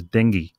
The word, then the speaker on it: dengue: called dengue fever now even though it is spelt de and gue the condition is pronounced as dengue so we'll be discussing